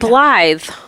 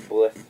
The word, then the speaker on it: Blythe: It's B-L-I. Blith, Mom. Yeah, it's like blith with an E.